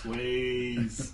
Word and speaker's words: Swayze: Because the E should be silent in this, I think.